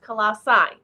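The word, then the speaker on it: Colossae: description but he said in English it's typically pronounced colassi so I'm going to try to remember pronounce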